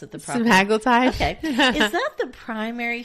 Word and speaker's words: semaglutide: at all I said semaglutide why don't you pronounce it the proper semaglutide okay is that the primary shared ingredient in